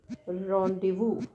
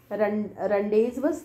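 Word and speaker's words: rendez-vous: And last is very surprising to you, sound is that's a रोंडेवू, रोंडेवू। ये रनडेज, run days वज, पर रनडेज वज नहीं है ये, इसका साउंड इज रोंडेवू, राइट।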